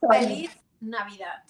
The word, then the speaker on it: Feliz Navidad: Proper Spanish from Spain. We say Feliz Navidad because Feliz Navidad. The Z's and the C's sometimes in Spanish is pronounced theta. The S's are always S's.